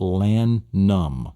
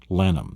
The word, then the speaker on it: Lannom: Lannom. Lannom.